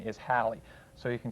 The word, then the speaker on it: Halley: the proper pronunciation is halle so you can call it halley's comet or comet halley but don't call it haley whatever you do that's just plain wrong and that of course